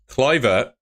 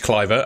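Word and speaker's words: Kluivert: Lloyd I don't want to talk about it cver it's it's pronounced cver I've been corrected in in the comments section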